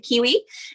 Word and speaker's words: KWE: ceo of kwe publishing i pronounce it kiwi and i am a